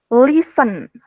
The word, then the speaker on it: listen: playing guitar, listening to music, Listen. T-nya hilang.